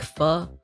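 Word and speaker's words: phở: Why does she pronounce it like fu? That's the closest way to pronounce it in English, isn't it? That's the closest way you can get to the Vietnamese pronunciation, isn't it? Correct me if I'm wrong. I'm not Vietnamese, but I'm pretty sure it's foo, you are correct.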